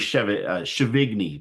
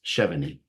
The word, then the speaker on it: Chevigny: I always thought it was Chivigny, but it's Chevigny.